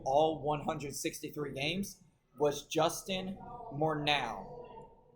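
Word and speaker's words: Morneau: The last the last player uh to do all 163 games was Justin Mornau. Morow I think is how you say.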